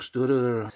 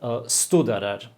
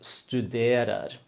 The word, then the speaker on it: studerer: Yeah, you said studerer. It is studerer. So 2 things here, or maybe 3. The accent is on the 2nd syllable. It's like studerer. Then the U, of course. And also the E, okay, it's a long E. We don't have that sound in English either.